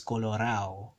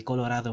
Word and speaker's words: Colorado: When it comes to the ado endings, there's a tendency for this d to just disappear, and it's gonna get pronounced as nothing, like nothing there. So Colorado gets pronounced as Colorao, which actually Colorado means